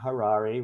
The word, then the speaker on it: Harary: Harary, rhymes with Ferrari.